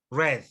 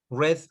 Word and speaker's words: read: so we say wreath red red like the color okay excellent now b